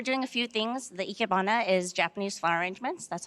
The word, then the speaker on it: ikebana: absolutely so we're doing a few things the ikebana is japanese flower arrangements that's how you say